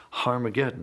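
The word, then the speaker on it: Harmagedon: written in Greek Armageddon has an aspirant at the beginning meaning it's pronounced with an H so it originally was harm again and you can get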